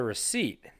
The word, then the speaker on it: receipt: Sir, did you put a P in there?